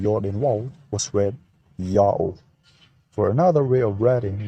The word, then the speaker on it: Yao: The vowels A plus U contracted to O as in August were written in Akkadian with a U sign. Thus the pronunciation is also Yao.